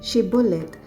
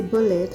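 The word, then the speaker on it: Shibboleth: they said to him then say she bullet and he said say bullet for he could not pronounce it right then they seized him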